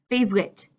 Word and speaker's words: favorite: I like the most but my my reduced pronunciation I'm saying favorite favorite what's your favorite beverage